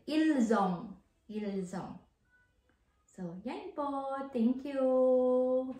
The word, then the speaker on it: ils ont: Ils ont, like I said earlier po, il is, we spell it with S. And then yung kasunod po niya, O-N-T, kaya magiging bigkas na po natin. Ilzong.